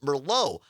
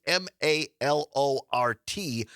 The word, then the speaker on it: Malort: and no, this is it's spelled differently than merlot. It's m a l o r t and it's pronounced Malort.